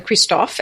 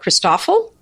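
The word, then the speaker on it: Christofle: uh there's Christof a Kristoff and a poocat the Kristoff is people in America sometimes call it christoffel because it's because of the way it's spelled and and that sounds awful and theoc cat is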